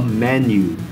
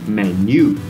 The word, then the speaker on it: menu: list is called a menu. We don't say menu. The stress is on the first part of the word.